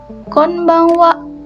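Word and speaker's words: こんばんは: Ini hurufnya H sama ya ini juga tapi dia dibacanya itu wa kon bang wa kon niiciwa kong bang.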